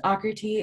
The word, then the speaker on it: Aakriti: right now um so my name is pronounced occur t it's like socrates without the s's um i don't mind